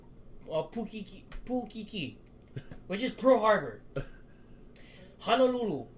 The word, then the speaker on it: Honolulu: Honolulu, it's Honolulu.